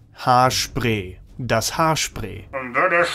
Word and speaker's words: Haarspray: It's das Haarspray. Or with a more German pronunciation, das Haarspray.